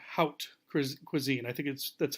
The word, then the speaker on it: haute cuisine: what we also call haute cuisine. I think that's how you're supposed to pronounce it, like the word out, haute cuisine. It's a French term.